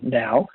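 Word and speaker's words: NAO: Zealand distributor for the now humanoid robot so it's spelled n-a-o but pronounced now and the now robots a French humanoid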